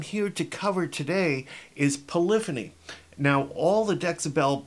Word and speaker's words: polyphony: polyphony means now polyphony let's break that up into the base words you've got poly and phony it's pronounced polyphony when you put it all together but poly means many and phony means sounds like phonics phony ok so many sounds polyphony polyphony alright now when you